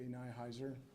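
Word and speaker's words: Nihiser: Nyhiser. For the media, Nyhiser, N-I-H-I-S-E-R.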